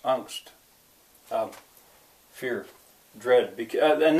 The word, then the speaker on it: Angst: would say in English angst has become an English word actually pronounced angst um fear dread because